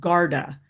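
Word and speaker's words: Guarda: is a very well done wallet is called Garda and that's spelled g-u-a-r-d-a Garda wallet so all those ones that I've mentioned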